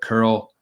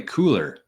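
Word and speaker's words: KULR: I think I called it Curl, but it is apparently Cooler.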